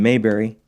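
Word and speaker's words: Maberry: Trilogy is by Jonathan mberry excuse me Jonathan Mayberry always get that wrong how dare you I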